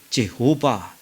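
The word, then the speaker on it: Jehovah: 제호바, 여호와를 원래는 제호바가 제대로 된 발음이에요.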